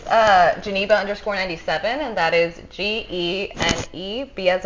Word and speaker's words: Geneba: We got our girl Geneba. Did I say it right? yes, he did. Geneba.